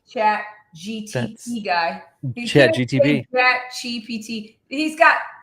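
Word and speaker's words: ChatGPT: He's gonna He messes me up because he says J chat GTP every freaking time. I'm like are you verbally dyslexic because you say it wrong?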